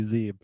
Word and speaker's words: Zeeb: Says, don't be a dweeb, listen to Zeeb. Yeah, don't remind me that my name rhymes with dweeb, because that's a source childhood memories there, Hey, but this is in a good light.